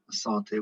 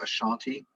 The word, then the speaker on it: Asante: She led the fight against the British in the last Asante War. I say Asante, but you might have heard the term Ashanti. These are the same group, sort of different pronunciations.